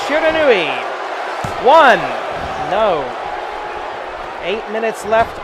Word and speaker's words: Shiranui: that going for Shiranui and yes it is pronounced Shiranui one no eight minutes left on the clock